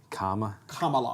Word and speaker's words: Kamala: Yeah, but I think this is another reason why the Kamala Harris, comma, like the word comma. Kamala. Kamala Harris. Yeah, like C-O-M-M-A, Kamala. Just think of it that way.